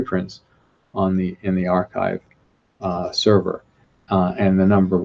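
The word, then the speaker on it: arXiv: the first adopters of the archive which is spelt ar ar capital X IV it was developed out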